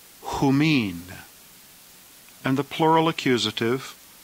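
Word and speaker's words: ὑμῖν: The plural genitive is pronounced humon, humon. The plural dative, humin, humin.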